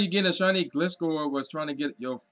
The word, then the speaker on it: Gliscor: your baby cow so yes we got the Gliscor that's how you pronounce it pokedex entry right here I'm not